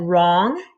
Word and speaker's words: wrong: about if you said wrong you are correct because the w r makes the er sound so the w is silent okay so now you're